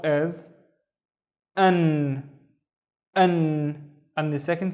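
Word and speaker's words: أنا: The first syllable is basically a and then na ana and is i. Anna the pronoun.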